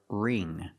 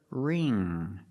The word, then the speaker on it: wring: The W is silent, so we use the R sound. Ring. The ing makes the long E sound like green beans. So together, ring. And the ng makes the nasal sound.